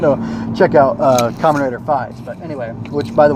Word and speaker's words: Faiz: check out Kamen Rider Faiz. But anyway, which by the way, it's 555 and it's pronounced Faiz like the Greek letter, although apparently they use